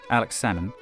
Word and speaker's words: Alex Salmond: The SNP leader, this man, Alex Salmond, you don't pronounce the L, like with the fish, became Scotland's first minister and promised a referendum within the election cycle.